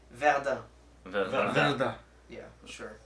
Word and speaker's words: Verdun: It's actually pronounced Verdun. Verdun. Yeah, sure. Like Verde. Sure. Like No, You Verde. have to keep in mind that the French, they basically take off the last consonant.